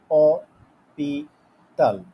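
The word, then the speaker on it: hôpital: in French লপিতাল তো এইখানে আশ এইচ দ্যাট ইজ সাইলেন্ট আমরা বলতেছি অপিতাল অপিতাল সো এটাও ম্যাসকুলিন তো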